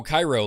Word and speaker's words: Cairo: different ideas and evolved oh Cairo like in Egypt okay thank you sorry